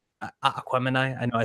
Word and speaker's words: Aquemini: I'm like listening to Aquamini, like Aquemini. I know I said it wrong. I Gemini, say Jesus. Aquamini. Yeah, I've always said Aquamini. I know it's Aquemini.